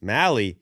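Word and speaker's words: Mahle: Braves also get Tyler Molly? Mally. Nally. Mally. Rhymes with rally.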